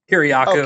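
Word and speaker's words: Kiriakou: And then like John Kuryaku even or what say how do you say his last name? No, you got it. Kiriaku Kuryaku.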